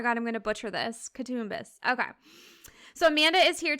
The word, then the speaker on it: Coutsoumbos: last name how do you say it katus katbus oh it's actually easier than I thought okay like looking at it I was like oh my God I'm gonna butcher this katbus okay so Amanda is here today to talk